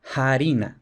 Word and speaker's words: farina: Entonces, por ejemplo, en latín farina, lo normal es que en la Edad Media se escribiera también con f, pero que se pronunciara harina, con aspiración.